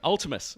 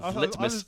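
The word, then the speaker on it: Vltimas: Oh, fucking how's it pronounced again? Ultimus. Ultimus. Or Viltimus.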